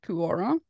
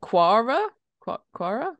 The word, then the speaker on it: Quora: topic from Pure how do you say that kuara let's Google it I think it comes from it's in from um quora yeah it's like a bad version of Reddit